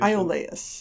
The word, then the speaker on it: Iolaus: What's the right pronunciation? Iolaus.